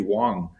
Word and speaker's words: Wang: Dr Dr um Wang is what we've said that we're going to do because it's the easiest for us I'll say but it's actually Wong is how you would pronounce it um just so anyone